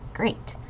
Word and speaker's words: great: word jger great mhm great yes that is how you pronounce it it's a long a sound okay next one Olivia